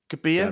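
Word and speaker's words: Gabbia: was like what yeah you're supposed to say the double be gabia gabia yeah gab Yep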